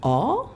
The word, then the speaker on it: awe: Les chercheurs américains donc, appellent ça le awe. Ça s'écrit A-W-E. Oh, moment. Voilà, comme awesome.